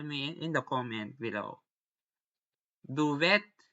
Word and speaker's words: duvet: For example, words coming from French and the eight of laundry it when I read them pronounced and the start in the French way, as in the A in the day.